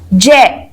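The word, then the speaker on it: ज्ञ: लेकिन इसका उच्चारण क्या है? ज यानी ज और ण। ठीक है? इसका उच्चारण आप विशेष ध्यान रखेंगे। इसमें लोग कंफ्यूज होते हैं ग और ज में।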